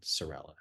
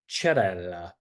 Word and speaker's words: Cerella: He's like, in Italian, CE is pronounced ch, as in church. And so he's like, your name is not Cerella. Your name is Cerella.